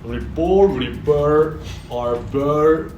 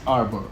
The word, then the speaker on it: RBOR: Okay, the correct answer is Arbor. Arbor. It's like the Arbor.